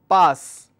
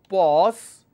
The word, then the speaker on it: pass: For example, I have a word which is pass. The breakup is p, a, s. But if I mispronounce this as pause, it becomes a different word altogether.